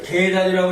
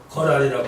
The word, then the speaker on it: 거란: 이걸 계단이라고 읽으면 안 되고 거란이라고 읽어요.